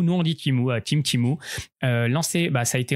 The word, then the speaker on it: Temu: Temu, Timu, prononcez-le comme vous voulez.